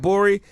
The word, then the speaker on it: Gborie: Smith, is my boy David Gborie. The G is silent. Hey. The G is super silent, man.